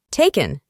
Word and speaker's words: taken: En el pasado participio es taken. Como pueden ver, la A del verbo se pronuncia A. Taken.